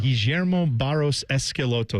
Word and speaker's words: Guillermo Barros Schelotto: Guillermo Barros Schelotto is actually how they say it.